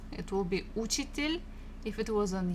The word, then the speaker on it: учитель: Next one, номер 4, учитель, учитель, учитель, a teacher, учитель, учитель. Again, second syllable. If it was on U, it will be учитель.